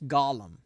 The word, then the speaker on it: Golem: So we're going to be watching a movie from 2016 called The Limehouse Golem. Huh. It stars Douglas Booth, Olivia Cook, Sam It's Reed.